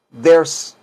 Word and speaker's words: there: que debería de ser there are pero como les digo la gente dice decimos ders en vez de decir there pero Pueden decir there es totalmente correcto y es there are